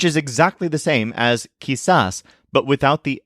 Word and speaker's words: quizás: to say it is kisas which is spelled Qi Z with an accent on the A kisas and when you say